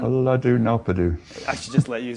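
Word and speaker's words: Ulladu Narpadu: He persuaded him to write down his teachings in Uladu Naran. Uladu Nalpadu.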